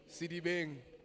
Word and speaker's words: Sedibeng: So, if you go onto Google and you go to the municipalities page, Sedibeng, am I saying it correctly? Sedibeng? Yeah? Sedibeng.